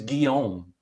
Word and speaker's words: Guillaume: i thought my name my first name in french is guillaume and it's spelled g-u-i-l-l-a-u-m-e and i thought well